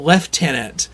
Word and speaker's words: lieutenant: I think it's like in the UK they pronounce uh they just say lieutenant like just completely different. Yeah. They call it left tenant, but they still spell it lieutenant.